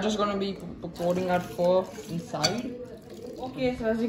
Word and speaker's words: pho: This is instant chicken pho. Because of Vietnamese noodle soup, it's actually pronounced pho, not pho.